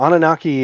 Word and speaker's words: Anunnaki: Oh yeah, Anunnaki.